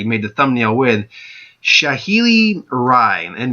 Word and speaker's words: Rai: the thumbnail with, Shaheeli Rai, and it's pronounced rye like rye bread, rye the drink.